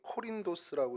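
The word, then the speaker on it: Κόρινθος: 먼저 이 고린도는 이제 코린도스라고 이제 발음을 헬라어로 해야 되는데요.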